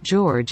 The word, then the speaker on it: Jorge: jorge shared was why his name is pronounced as george instead of the spanish way the 90-day fiance fan